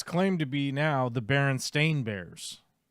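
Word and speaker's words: Berenstain: Bears right agreed yes no it's supposedly Baron stain Bears supposed German I understand supposedly supposedly it's spelled b r n s a i n like Baron stain not Baron Stein okay no weird look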